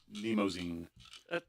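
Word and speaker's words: Mnemosyne: Nemosine. Is it MN? MN. Yeah. But pronounced Neimosine. Those silent M's.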